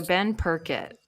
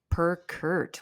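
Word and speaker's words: Purkert: the p he so ben perkett perker per kurt wow i've been saying it wrong all this time ben perk sorry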